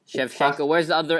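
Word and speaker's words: Shevchenko: up right now mate Chev shenko but it's it's said look it's actually spelled chevchenko Chev shenko Chef shenko where's the other s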